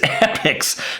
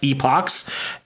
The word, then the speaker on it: Epochs: Yes, it is pronounced epics, not epochs. Uh Apoch can be used in the English language. However, uh when the plural gets involved, it has to be epics, said the internet.